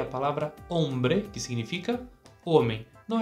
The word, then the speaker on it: hombre: agora a gente tem uma palavra que começa com a letra h mas o som Inicial é de o porque o h não tem som no espanhol vamos lá a palavra